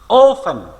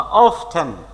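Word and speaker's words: often: অফেন বা অফটেন অফটেন উচ্চারণটাও করে, অফেন উচ্চারণটা করে। এখন ব্রিটিশরা এটাকে অফটেনই বেশি বলে।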